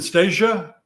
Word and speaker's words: Stacia: They're and is it Stacia? Yeah, you're right. That's how you pronounce it.